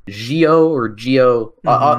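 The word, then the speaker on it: Zi-O: obviously it's pronounced like geo or geo uh uh it's not a Z sound so I say it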